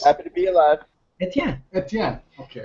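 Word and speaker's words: Étienne: But it also helps people pronounce it because they pronounce it Etienne, Etienne, Etienne. Etienne. So yeah. I've been before ATMs. It was AT&T, so or B12. So it's with the little umlaut, people get Etienne, and that's how it's pronounced, Etienne.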